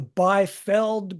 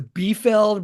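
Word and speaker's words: Biefeld: I think we have three or four different pronunciations now I call it the beld brown effect I was sitting in on a conference over the weekend where they called it the B the beeld brown effect so it's either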